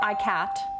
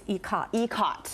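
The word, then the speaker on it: ikat: you're that's it what it's not icat no it's ecot and that's it and that's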